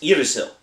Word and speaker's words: Yggdrasil: has told us that the proper way to pronounce the name of this game is iril so that's what we're